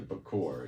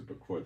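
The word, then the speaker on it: בכור: The Bakor, it's pronounced the Bakor, that's first fruits.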